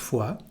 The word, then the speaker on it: fois: J'y suis allé plusieurs fois, j'ai de la famille là-bas. Suis, plusieurs, you don't pronounce the letter S at the end. Fois, same thing here.